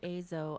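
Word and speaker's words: Eizo: i started azo e-i-z-o have to say it because it's spelled it's a japanese name it's uh um but before i started azo i was actually doing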